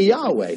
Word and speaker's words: Yahweh: you know you did wrong and you say yahweh so i said you're working you're working on